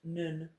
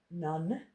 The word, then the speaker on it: nun: Now, I've written nun up beside it because it's pronounced nun, not none.